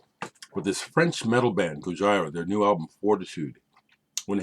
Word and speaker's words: Gojira: But this French metal band, Gojira, their new album, Fortitude, went ahead and picked it up.